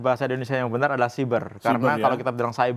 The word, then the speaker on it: siber: pertama di Indonesia nih penggunaan Katanya sih berapa cyber yang tebal benar-benar kalau menurut ejaan bahasa Indonesia yang benar adalah cyber karena kalau kita bilang saya beri itu ejaan